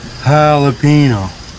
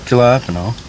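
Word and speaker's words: jalapeño: Ricky, the J's silent. I'm saying it wrong. The J's like an H, Ricky. Jalapeno, not Jalappeno.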